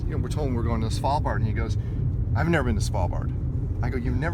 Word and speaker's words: Svalbard: let alone took me almost a year to pronounce it, and it's Svalbard.